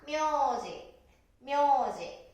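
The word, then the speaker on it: 名字: ね、でも、発音は、名字となります。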